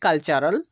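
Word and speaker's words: cultural: ন্যাচারাল, তো এখানে আমরা টি এর পরে ইউ আর এ কে দেখতে পাচ্ছি, তাই টি এর উচ্চারণ চ হচ্ছে। ন্যাচারাল, যার অর্থ হচ্ছে প্রাকৃতিক। তেমনি করে আমরা বলতে পারি কালচারাল, যার অর্থ হচ্ছে সাংস্কৃতিক।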